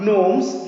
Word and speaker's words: gnomes: fairies nights and norms this is not gnomes this is the g will not be be pronounced here here we shall be saying it loams now who we have